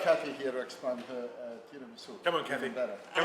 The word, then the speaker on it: tiramisu: Now, what I'd like to do again, could you pronounce tiramisu?